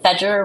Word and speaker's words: Fajer: Fajer rhymes with ledger, if that's helpful.